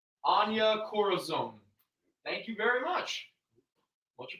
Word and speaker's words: Anya Corazon: Anya Corazon. Anya Corazon.